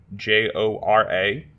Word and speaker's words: Kjora: Kayjora, pretty much spelled like you think it would be.